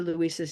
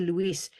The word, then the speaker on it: Luis: Both are two syllables, but the way Spanish behaves, it sounds faster.